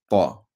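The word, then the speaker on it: ط: It's a letter where you pronounce it the full mouth, like the, not like the ba ta tha. That's not with the full mouth, but it's like the kha and ra. It's like that.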